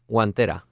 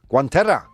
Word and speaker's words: guantera: Guantera. Guantera.